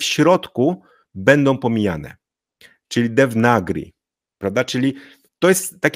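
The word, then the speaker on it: देवनागरी: ze słowo Arabskiego pochodzenia ale powiemy de nagri czyli tego a tutaj nie przeczytamy i tego a tutaj nie przeczytamy czyli powiemy nagri czy oni tak jak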